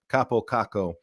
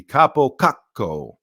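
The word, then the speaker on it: Kaapo Kakko: proper way to pronounce Kappo Kakko. And I actually kind of integrated it into if he's in the starting lineup, because it fits better to have the little pause.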